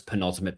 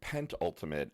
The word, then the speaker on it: penultimate: I once in college embarrassed myself because I pronounced it pentultimate and said, like five. And the professor was kind of like, no. Penultimate.